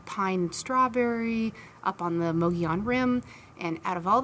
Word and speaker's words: Mogollon: Now, for those of you who have never heard of it and are having problems Googling it, it is spelled Mogollon, so like Mogollon, but it's Mogollon.